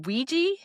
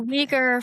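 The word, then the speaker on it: Uyghur: Is it Weejy? It's the Weejer Forced Labor.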